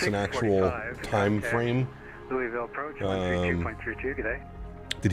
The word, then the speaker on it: Louisville: That is the proper pronunciation of Louisville.